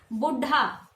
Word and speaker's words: बूढ़ा: इसी तरह से हमने लिखा बुढ़ा, ठीक है, बुढ़ा गलत है। ये क्या शब्द है, बूढ़ा, अढ़ अढ़ आता है, बिंदी आना चाहिए, तो ये गलत हो गया।